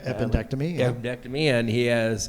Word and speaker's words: appendectomy: Yeah, he had his epidectomy. How do you say that? Appendectomy. Appendectomy.